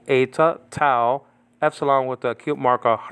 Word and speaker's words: tau: Metera for mother is spelled out mu, eta, tau, epsilon. Nowadays called tough, by the way, and eta, and then the mu is called me. But this is biblical Greek that I'm talking about. Mu, eta, tau, epsilon with the acute marker rho and alpha.